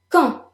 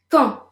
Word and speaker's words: quand: Quand. Repeat. Quand. The D is silent.